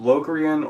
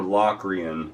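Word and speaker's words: Locrian: next one is uh it's pronounced locan or loan sometimes and uh it's a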